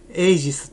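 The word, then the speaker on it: AGEs: ねま最近よくエイジスと言われるんですけども AG と書いてエイジスとえいうもの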